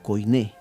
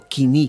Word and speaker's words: koiné: Dios usó el griego koiné, o kini, como se debe pronunciar correctamente, que es el griego común, ¿no?